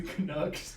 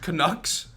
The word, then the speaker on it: Canucks: The Canucks. Canucks.